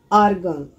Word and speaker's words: Argon: react they are noble gas helium Neon aircon Argon is the correct pronunciation now what is the beauty of this